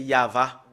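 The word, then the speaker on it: יהוה: c'est la première partie voilà comment on le prononce voilà le fait de le prononcer c'est yava nous allons le faire entrer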